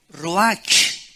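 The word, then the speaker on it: רוח: es la palabra hebrea Roach qué se pronuncia ro La ch en el hebreo se pronuncia como j y que es la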